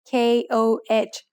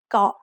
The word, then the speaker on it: เกาะ: เกาะ is usually written in English letters as K-O-H, so many foreigners end up saying ko instead of เกาะ.